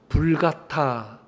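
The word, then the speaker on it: Vulgata: 그 당시 그들이 그렇게 성스럽다고 구별했던 그 성경 라틴어 성경을 성경 이름이 뭐냐하면 불가타 성경이라 라틴어로 불가타라 그래요. 영어로는 벌게이트라고 읽는데 벌게이트가 불같타라는 말이에요.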